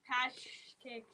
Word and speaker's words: Paschkis: It's called Marzipan by Julie Pashix. Okay, girls, could somebody spell it phonetically for us? Paschkis. Pashkis.